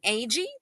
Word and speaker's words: Agee: Agee, pronounced like the first two letters A G.